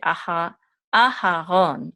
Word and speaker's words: Aharon: In English, we say Aaron, or we could say Aharon. But in Hebrew, we would say Aharon.